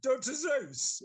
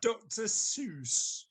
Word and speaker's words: Seuss: Dr. Seuss. Yes. Why it's spelled Seuss. So I think that's Dr. Seuss, not Dr. Zeus.